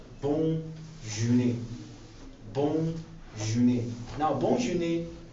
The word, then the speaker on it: bonne journée: And it's pronounced as bonne journée.